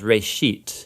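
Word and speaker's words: רֵאשִׁית: Genesis comes from a Hebrew word. It's pronounced reshit, and it just means beginning.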